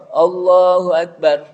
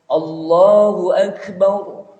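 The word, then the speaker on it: الله أكبر: Allahu Akbar. Bar. Jadi jangan sampai apa? Ada lagi bacanya. Allahu Akbar. Tidak Allah. Allahu Akbar. A-nya juga lafaz Allah, namanya lafzul jalalah, itu dibaca tebal. Tafkhim.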